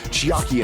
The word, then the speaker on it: Chiaki: Is it Chiaki? Is that's pronounced?